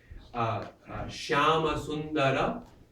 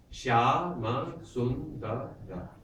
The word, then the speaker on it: Shyama Sundara: Shyama Sundara, Shyama Sundara, 5 syllables, right?